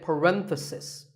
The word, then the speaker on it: parenthesis: you talk about just one bracket you say parenthesis the stress is on random if you're talking